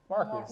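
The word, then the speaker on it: Mrkus: Yeah, it's still pronounced, Yeah, Marcus.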